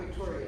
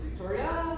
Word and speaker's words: Victoria: So my name is not Victoria, it's Victoria.